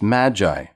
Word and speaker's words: Magi: up at their door the meiji sometimes pronounced magi these were not kings